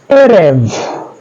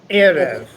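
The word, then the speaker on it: עֶרֶב: nouns because they form an exception to our rule, which is normally to accent the last syllable of our Hebrew words. So Joseph, being mindful that all of these are accented on the first syllable, could you lead us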